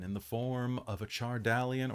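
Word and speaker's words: Chardalyn: the form of a chardallian or chartland if you're if you're a fan of the actual pronunciation which i'm not um a dragon made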